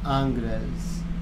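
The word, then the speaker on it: Ingres: And Angra is spelled I-N-G-R-E-S, and that's why it's weird, because it's French, of course.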